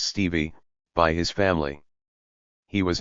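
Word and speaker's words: Stephe: 22nd 1857 he was called Steph pronounced Stevie by his family he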